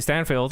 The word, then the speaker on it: Steinfeld: Steinfeld, yes.